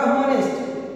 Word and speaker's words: honest: Not a honest. It is pronounced honest.